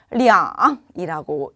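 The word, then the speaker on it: 两: 또한 숫자 2 같은 경우에는 우리가 시간, 수량, 금액을 표현할 때 리앙이라고 읽습니다.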